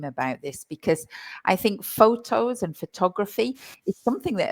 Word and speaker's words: photography: if anybody's noticed, but I say photo, but I say photography. And this is a bit of a minefield for pronunciation. So let's start with that, shall we, Craig? Yeah, because the stress changes. And when you're learning English, you want to make sure that you're stressing the right syllable.